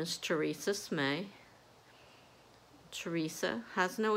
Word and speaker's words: Smay: It's the same as Slay, except there's an M instead of an L.